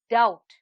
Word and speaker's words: doubt: the silent letter here is b and the word is doubt now come let's have